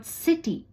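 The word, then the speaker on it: city: सी ए टी कैट कभी कबार सी जो है वो स जैसे भी कहा जाता है पर यह तब होता है जब सी के बाद आई हो तो वो की की नहीं करके सी हो जाता है जैसे कि वर्ड सिटी वाई हो या सी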